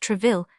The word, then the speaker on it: Troisville: With what joy she said the words, put Monsieur de Troisville, pronounced Treville, to sleep.